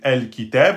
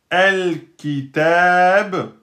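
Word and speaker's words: الكتاب: Donc el kitab, si je le prononce tout seul, el kitab, je prononce le lemoun. Pourquoi ? Parce que il est suivi de la lettre kef. La lettre kef est une lettre lunaire.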